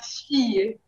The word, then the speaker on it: fille: La fille. La fille. Okay. For la Shadi, you don't pronounce the L. It's Y.